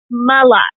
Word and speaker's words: Mlott: my name is mullet like a lot but with an M mulatto there's no a